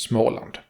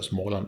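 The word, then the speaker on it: Småland: would be small land the first port of the named smoke has the same o sound as when you say the letter O though without almost W ish sound which normally one uses when finishes of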